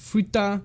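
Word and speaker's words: 二: This is ni here. If we look at it, it can ni. It can also be pronounced futa.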